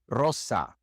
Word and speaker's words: rosa: We can hear this sound in words such as rapido, rapido, or rosa. Rosa.